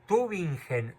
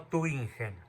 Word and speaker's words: Tübingen: No, Tübingen, no Tübingen. Se escribe Tübingen, Tübingen. Probablemente hay otra ciudad que